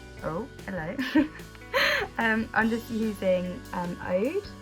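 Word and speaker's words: Oud: I'm just using Ode, it's this one. I think that's how you say it, it's O-U-D, Ode, I don't know.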